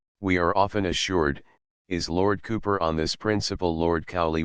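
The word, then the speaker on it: Cowper: Lord Cooper we we are often assured is Lord Cooper on this principle Lord cie would certainly be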